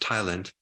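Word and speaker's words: ptyalin: there's this enzyme called Thailand which the p is silent but it's pronounced Thailand which is is basically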